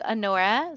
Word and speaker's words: Anora: daughters this is Hora you would say it like Anora so it's Anora lionhardt she is blond